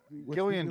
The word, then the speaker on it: Gillian: break down Gilligan's Island Gillian Jacobs her name is the female lead she pronounce her name with a hard G she's from community which